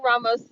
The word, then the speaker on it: Ramos: anyway you saw Anthony Ramos his name is spelled r-a-m-o-s Ramos it's not Ramos it's not right if it was Ramos it would be r-a-i-m-o-s though but it's not okay